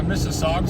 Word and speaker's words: Mississauga: I tried to figure out how to pronounce it, but I know I'm not going to pronounce it. Mississauga? Yeah, Mississauga.